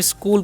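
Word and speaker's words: school: द स्कूल यहां पर सी एच का उच्चारण है क होता है इसलिए हम स्कूल पढ़ते हैं स्कूल टीचर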